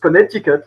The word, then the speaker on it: Connecticut: ruined the day and taught me that it's pronounced Connecticut but for a French person it's still funny.